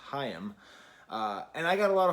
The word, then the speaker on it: Haim: did a video on Haim which it turns out they're pronounced hiam and I got a